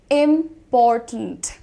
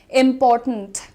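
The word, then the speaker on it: important: इसको इस तरीके से बोलना है। इंपॉर्टेंट अगेन साउंड ब्लेंडिंग है टिंट में। इंपॉर्टेंट ट और न देखो। टिंट।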